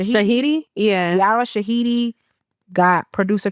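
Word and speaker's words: Shahidi: Shout out to Yara Ashidi or how you say it? Shahiti. Shahiti.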